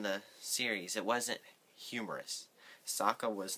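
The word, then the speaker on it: Sokka: iro EO no and Saka not sooka when I heard SOA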